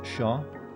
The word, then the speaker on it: chat: across like fun fact french name for cats in chat pronounce shaw all right i probably